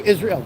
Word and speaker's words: Yisroel: ahead dude it's really nice to meet you Israel Israel what's your Instagram um forget Instagram go on YouTube it's spelled y i s r o e l